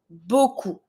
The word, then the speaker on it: beaucoup: To say a lot, beaucoup. Beaucoup, I don't pronounce my P.